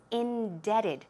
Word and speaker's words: indebted: and de BTW ed but the pronunciation is indebted the be here is cylla so keep that in mind it is not in depth 'add it's indebted so these are actual